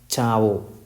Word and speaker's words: ciao: It contains CIA, so this word is pronounced as Chao.